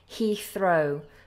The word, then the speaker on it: Heathrow: first one here is London Heath Row Heathrow we have that th there so remember with th's we put our tongue between our teeth Heathrow so London Heathrow my